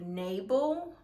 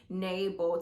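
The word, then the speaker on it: Nabal: to um a man by the name of nabel um and hopefully i'm pronouncing that correctly is n a b a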